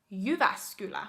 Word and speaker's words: Jyväskylä: We have Jyväskylä.